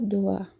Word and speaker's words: doigt: Je vois 3 doigts. Eu vejo 3 dedos. 3. E doigt é dedo. Lembrando que as últimas consoantes não são pronunciadas. E o oi da gente tem som de UA.